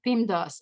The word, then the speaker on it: PEMDAS: all over the place the way you pronounce beam does is M first then D because so happens we cannot pronounce two letters at the same time but that causes issues